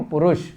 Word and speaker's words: पुरुष: पुरुष, छोटे ऊ का उच्चारण करेंगे, किम पुरुष।